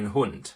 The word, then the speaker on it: Hund: one dog is a hun so we have the letter D but we pronounce it as T and in the plural